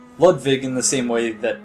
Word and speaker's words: Ludwig: that yeah he pronounced ludwig in the same way that i assumed it would be pronounced as a german name uh the w is pronounced more like a v ah so really kind